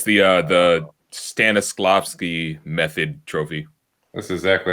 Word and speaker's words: Stanislavski: It's the Stanislavski method trophy. That's exactly how you pronounce it.